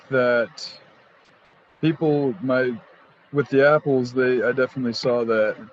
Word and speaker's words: Appel: springs they're they're the apples um spelled a-p-p-e-l pronounced apple and um and the